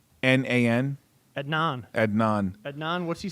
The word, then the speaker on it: Adnan: that how you say his name a d a-d-n-a-n adnan adnan adnan what's he saying since you